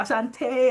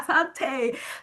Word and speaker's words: Asante: Is it Asante or Ashante? How do you say it? Yeah. Asante.